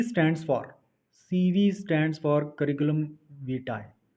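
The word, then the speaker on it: curriculum vitae: CV stands for CV stands for करिकुलम वीटाई। यह करिकुलम विटाय जो इसकी प्रोनाउंसिएशन है, यह Google की प्रोनाउंसिएशन है। आप इसको चेक कर सकते हैं। यह एक लैटिन वर्ड है।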